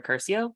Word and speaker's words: Curcio: My guest today is Sarah Curcio.